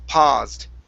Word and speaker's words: paused: see okay right here instead of Po ped with an ow sound this is ah paused try that paused PA one